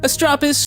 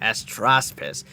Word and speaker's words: Astraspis: I don't want to be xenophobic here, but is this supposed to be a French way of trying to pronounce this creature Astraspis? Without the S, by the way. Without the S between the A and P.